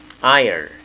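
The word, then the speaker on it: aisle: 아열, S, 예, 발음 안 하죠. 묵음, 아열.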